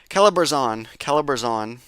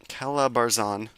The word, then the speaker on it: Calabarzon: Okay, does not contain the hard R. Okay, Let me try that again. Calabarzon. Calabarzon. Calabarzon.